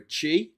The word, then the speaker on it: Xi: Um but yes um it was it was founded by the the uh emperor Chi spelled Xi which is why China should technically begin with an X but it doesn't but